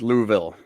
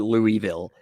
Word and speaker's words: Louisville: Jason did the same thing with Louisville. Because no one from Kentucky would ever call it Louisville. No, it's Louisville.